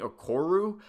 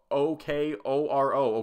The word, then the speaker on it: Okoro: mispronounced that his name his name is spelled out pretty phonetically you know it's o-k-o-r-o okoro I don't know how you I don't know how you keep saying okoru his broadcast partner was